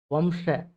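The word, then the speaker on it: वंश: முதல் வார்த்தை, வம்ச வம்ச அப்படின்னா வம்சம். தமிழ்ல வம்சம் அப்படின்பாங்க. ஹிந்தில வந்து வம்ச அப்படின்னு பாதியா முடியும்.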